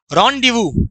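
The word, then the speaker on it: rendezvous: रॉन्डिवू, इसे पढ़ते हैं रॉन्डिवू। अगर मैं इसको भी हटा दूं तो रॉन्डिवू। तो असली में इसका जो प्रोनाउंसिएशन होता है रॉन डीवू, ऐसे पढ़ते हैं इसको, रॉन डीवू।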